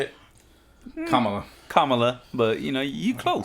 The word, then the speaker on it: Kamala: It is President of the United States of America, Joe Biden, with Madam Vice President Kamala Harris. Is that how you say it? Kamala, but you know, you close.